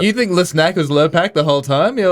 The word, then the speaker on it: Lurpak: Yeah, it's buying LePac. Yeah, the dog. exactly. But yeah. Lurpak? LePac. That's the fancy one. That's the fancy photo. That's not how you say it. How do you say it? Lurpak.